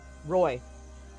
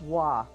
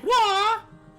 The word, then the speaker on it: Roy: name is spelled r o y what yep Roy it's actually but it's pronounced W huh AA thing Patrick W so yeah but spelled Ro oi I'll be